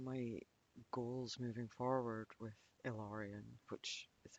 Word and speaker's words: Ilarion: And one of my goals moving forward with Ilarion, which is how the business is pronounced, by the way, um, Ilarion Massage and Healing.